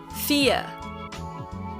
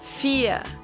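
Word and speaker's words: vier: okay number four is fear fear all right another pronunciation thing the v in german is pronounced exactly the same as the f in german it's both they're just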